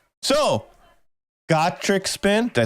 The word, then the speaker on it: Gacharic: It's actually a soft G at the beginning.